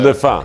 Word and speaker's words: La Fin: I've been saying Lafine, and okay. My French is not very good. It's so Lafin.